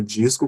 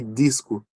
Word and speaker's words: disco: Então, eu vou pronunciar disco, como eu faço, com D e G, né? Mas quem mora no Nordeste ou em regiões de Santa Catarina, talvez pronuncie disco apenas com som de D.